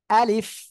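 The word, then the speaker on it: ألف: জানি তারপরে আমি বলছি আলিফ দেখেন আমি কিভাবে উচ্চারণ করি আমার মুখের দিকে তাকান আপনারা আলিফ আলিফ আলিফ দেখেন আ সিম্পল আ এইবার কি হচ্ছে লি এরপরে ফ উচ্চারণ হচ্ছে সে ফ টা কোন জায়গা থেকে নিচের ঠোঁটের পেট সামনের উপরের দুই দাঁতের আগার সঙ্গে লাগিয়ে হালকা বাতাস বের হবে আলিফ আলিফ সবাই হাত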